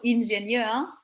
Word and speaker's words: Ingenieur: Por ejemplo, ingenieur, que veis que lo estoy pronunciando como en una manera francesa.